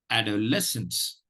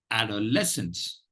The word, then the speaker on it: adolescence: that you understand the pronunciation better the the pronunciation goes like this add our lessons adolescence adolescence adolescence let me share screen with you the